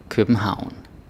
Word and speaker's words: København: Så har vi favn, ravn, København. Okay? Favn, ravn, København. Yeah, so when you have AV and it's avn, please do not say avn like a favn, ravn. That's not how you say it, right?